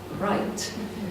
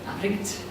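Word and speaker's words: Wright: it down there, that his name would be Wilhelm van Right, but since it was a Scottish family that moved over to Sweden and Finland, so they actually pronounce it Richt.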